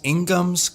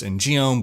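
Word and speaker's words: In-geom: damage for instance maybe speed builds that use Inghams could potentially benefit from this because not all speed builds really benefit from the cooldown reduction afforded by the ingham which I know most people pronounce in giome but the Korean pronounced Ingham and it's a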